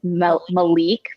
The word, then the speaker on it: Malik: talking about malik and malek because i i always just say king and prince but then we looked up the pronunciation it's malik for the king yeah and that makes